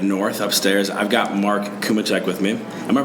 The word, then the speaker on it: Cumicek: I've got Mark Cumicek with me. Am I pronouncing that right? Cumicek, you got it.